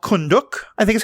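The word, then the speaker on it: Kahndaq: Africa, Middle East, maybe Persian Gulf areas called Kunduk, I think is how you pronounce it. Kunduk, yeah.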